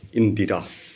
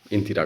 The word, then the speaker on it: ইন্দিরা: তার কন্যা ইন্দিরা গান্ধীকে ইন্দিরা বলবে উচ্চারণটা ইন্দিরা নয় মানে কিন্তু ভুল করে ফেলে ইন্দিরা বলে ফেলে ইন্দ্রা নয় ইন্দিরা ইন্দিরা ইন্দিরা কথার মানে আছে ইন্দিরা